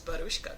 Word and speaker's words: Baruska: that's my first name got to roll that fing tongue son I like it I said it get on the horse and pronounce it right you know and you're